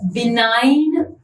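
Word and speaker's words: benign: the most similar to बिनाइन बनेट और बनान बिगने तो this comes from the word बिनाइन बी आई एन आई जी एन जहां पे जी silent होता है ठीक है और इसका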